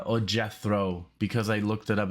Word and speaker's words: Jethro Tull: but i know it's jetro tal or jethro because i looked it up it's like jet and then throw they literally say throw and then tell so we're gonna do